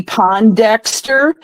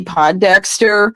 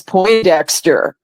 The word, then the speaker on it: Pondexter: Remember when Cappy Pondexter was on the New York Liberty and Bill Lambier was the coach? Yeah. Well, I had mispronounced the name as Poindexter, and Bill Lambier looked